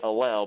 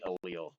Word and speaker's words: allele: So it looks like you would say it allele, but people say it allele.